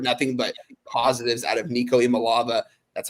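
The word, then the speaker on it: Nico Iamaleava: I've heard nothing but positives out of Nico Imalava.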